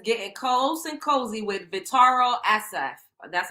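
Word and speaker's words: Vittorio Assaf: See, Aoki Lee Simmons getting close and cozy with Vitaro Asaf. That's how you pronounce it.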